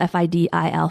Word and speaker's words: fidil: And actually, since we're nerding out on the word, the Irish word for the instrument is spelled F-I-D-I-L, fidil.